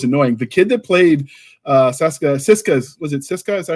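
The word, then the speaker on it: Sisko: The kid that played Siska's, was it Siska? Is that how you say it? Yeah, Cisco.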